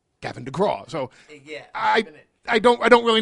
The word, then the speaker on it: Gavin DeGraw: People kept mispronouncing my name. They were calling me Gavin McGraw and Garvin DeSmalls, Kevin McCraw, and I was like, it's Gavin DeGraw, and so I just